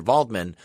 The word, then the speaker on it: Waldman: follows him to go meet Dr vman or spelled Dr Waldman it's spelled with a W but they call him Dr this whole time yeah